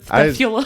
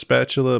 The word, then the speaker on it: spathula: Can you hear me on spathula? I suspect that's supposed to be pronounced spatula, but it looks like it's supposed to be pronounced spathula with a TH.